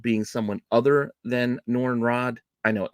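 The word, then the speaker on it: Radd: someone other than noren Rod I know I say Rod I think it's pronounced Rad but that just seems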